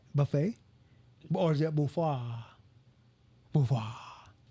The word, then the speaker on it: buffet: u f f t why is there te in there silent te it's French for no like the word is French but are we saying it right buffet or is it buah